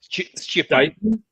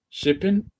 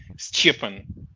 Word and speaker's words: Stjepan: The J is a Y, but it's not a vowel.